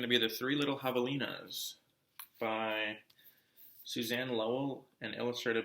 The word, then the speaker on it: javelina: Javelina, pronounced Javelina, comes from a Spanish